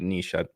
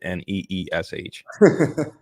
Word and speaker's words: niche: the way that's that's that is how you pronounce it Niche ask chat GPT and they put nees so I lost there hear say Niche and